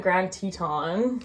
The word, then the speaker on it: Grand Teton: So we were in Grand Teton. Okay. That's how you say it. I did say it wrong in my video.